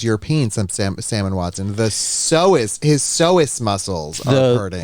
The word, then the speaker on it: psoas: Doggy Bag said a lot of times the psoas muscle, which is pronounced psoas, refers to the back, especially for cyclists.